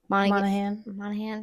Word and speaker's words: Monaghan: Michelle Monaghan.